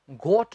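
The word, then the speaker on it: got: गई है, I have गॉट अ न्यू जॉब। एक तो इससे जॉब नहीं कहना, जॉब नहीं, जॉब। I have गॉट अ न्यू जॉब, गोट नहीं, गॉट, जॉब नहीं, जॉब।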